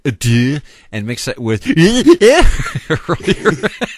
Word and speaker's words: adieu: Legion, I will bid you adieu. And I hope we have a great Well, actually, if you want to pronounce it properly, it's adieu.